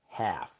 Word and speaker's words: half: Half. The letter L is silent.